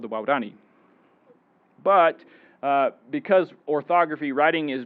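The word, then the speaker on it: Waorani: The endonym for this group is waurani, which is wow, the word for person, and dani, which is the third plus plural.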